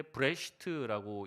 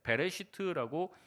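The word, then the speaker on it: בראשית: 히브리어로는 보통 읽을 때 브레시트라고 읽는데 베레시트라고 읽기도 합니다.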